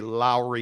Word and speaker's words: Lauri: gets into me about Lori Markin and talks about how the Salt Lake Tribune um published a story because I mispronounce Lori and I don't say Lowry marinin the proper pronunciation is Lowry marinin it's proper pronunciation great